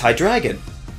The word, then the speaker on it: Hydreigon: Realizing the pronunciations in their native language, calling it Hydreigon is especially bad. It's a combination of Hydra, Dry, and Dragon, so it's Hydreigon.